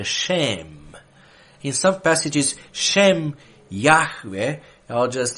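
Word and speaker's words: שֵׁם: word for name is shem is pronounced with long a you say shame in some passages i'll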